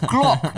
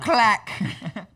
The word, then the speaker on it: Glock: say more politically correct it's pronounced glock not clack oh that's good yeah